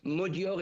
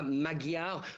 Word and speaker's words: Magyar: Ils donnent tous la victoire de l'opposition à Viktor Orban, en l'occurrence au parti Tiszta de Peter Magyar, puisqu'ici on prononce Magyar et non pas Magyar comme cela s'écrit.